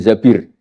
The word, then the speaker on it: Zabir: nikah sama Abdurrahman bin Zabir di hadis ini bukan Mbak Bacanya bukan Zubair tapi Zabir.